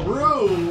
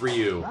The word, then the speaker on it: Ryu: somebody says R this it's pronounced Rue was the old arcade name that Seth kilan and a few people from the olden days would call them Rue they call him called